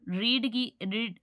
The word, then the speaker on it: read: तो यहाँ पर शी का जो ऑब्जेक्टिव केस है हर आ गया है, और रीड की थर्ड फॉर्म रेड होती है।